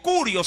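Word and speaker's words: κύριος: griego que significa kurios, sí, traducido al griego, kurios, así por lo menos se lo pronuncia.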